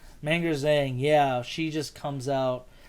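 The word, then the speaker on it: Meng'er Zhang: Manger Zhang. Manger Zhang, yeah, she just comes out and immediately dominates that fight.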